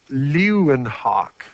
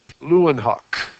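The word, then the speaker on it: Leeuwenhoek: then he's got a weird name i better spell it right lewin hawk l-e-e-u-w-e-n-h-o-e-k lewin hawk that was his name his name isn't important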